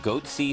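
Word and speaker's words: Goatse: They're called Goatsy Security. Is that my pronouncing that correctly? Yeah, that's right.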